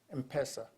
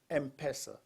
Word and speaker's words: M-Pesa: again and again is empresa now the pronunciation depends on who you are when I went back home after 20 years in the the IMF I would call it something else m-pesa you know the m and